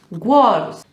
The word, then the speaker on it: words: No empieza por la G. No sé de dónde os sale la G. No es word, words.